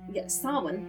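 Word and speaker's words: Samhain: Uh, salmon, uh, Sin, there we go. Uh, approximately pronounced sin is a Gaelic festival traditionally occurring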